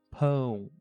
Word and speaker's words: pão: Entretanto, é sempre bom lembrar que pão não se pronuncia como au, como wow, ou seja, pa ou power, certo? É pão, mão.